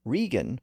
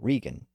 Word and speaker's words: Regan: in the 1980s you might remember that Donald rean was his treasury secretary and later Chief of Staff it was very easy to confuse those two names Ronald Reagan and Donald rean Reagan and rean are actually variations of the